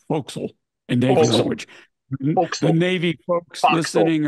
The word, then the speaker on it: forecastle: she's not and by the way Forecastle is pronounced Fel in the Navy folks listening or watching would